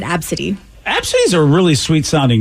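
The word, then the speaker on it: Abcde: spelled it though no she spelled it a b c d e that is kind of fun yeah but she pronounces it absidy these are really sweet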